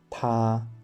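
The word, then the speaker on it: 他: So, both he and she in Chinese is pronounced ta.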